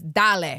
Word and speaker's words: Dale: if you guys know Pipple always says Dal which means like all right like let's go Dal Dal.